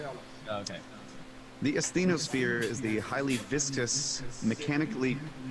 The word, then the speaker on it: asthenosphere: Okay, and it's spelled Sometimes it's spelled A-E, but it's usually spelled A-S-T-H-E-N-O, asthenosphere.